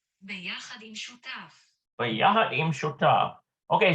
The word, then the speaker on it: שותף: Bayahad im Shotef. Yeah. ביחד עם שותף. Bayahad im Shotaf. Okay, so it's shotaf. Interesting. Well, it could be shotape too.